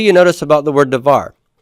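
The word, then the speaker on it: דָּבָר: Now, what do you notice about the word davar? Davar is already final syllable stressed, isn't it? You just always stress the final syllable.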